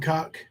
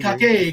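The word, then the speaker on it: Cocke: He is saying Cott County. Yes, Cocké. It don't matter how you spell it, Kemper. It's still Cott County. Oh yeah, for sure. It ain't Cockay County. It's Cott County.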